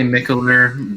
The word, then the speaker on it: Mikkeller: I mean, I say Mikkeller, but realistically, it's I always get this question like when I was bartending.